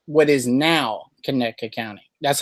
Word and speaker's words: Conecuh: What you would say, what is now Conecuh County.